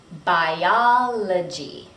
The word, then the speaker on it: biology: The bi or bio sounds like bi, not be. Biology.